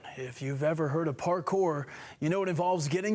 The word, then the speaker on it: parkour: This is parkour. Yeah. So, parkour or parkour as it's supposed to be pronounced.